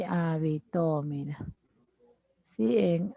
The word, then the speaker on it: habitó: Y habitó, el acento se ubica en la última sílaba aguda, mira.